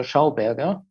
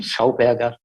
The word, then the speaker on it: Schauberger: I don't know if you heard of that Austrian guy, Victor Schauberger. I pronounce it in German. He was Austrian, Schauberger.